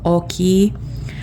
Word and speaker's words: ochi: So ochi, toți. You're not pronouncing the I. Your mouth just ends saying that word in a smile shape. You just try it and you'll see what I'm talking about, but you're not actually pronouncing the I. Here you are pronouncing the I. So oki, and then it's basically like okay, but you know, just oki, oki.